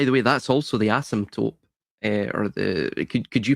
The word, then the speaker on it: asymptote: If you look at Bloch's quantum sphere, which also can be, by the way, that's also the asymptote, or the, could you pronounce it, Reagan?